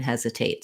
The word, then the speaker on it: hesitate: and that clear vowel we have a true t in hesitate so i don't change it to a d or a flap it's not like hesitate um or uh it's not a stop t either it's just like the if i were saying the word tate or the name tate um and then we